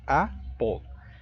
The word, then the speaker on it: apple: Son dos sílabas, apple. Y el acento enfático en la primera, apple.